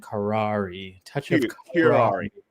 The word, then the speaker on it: Curare: Kurari. Kurari. Kari. Kari. Yes. Kari. There it is. Because you got the little accent over the e at the end. Kari. Touch of kurari.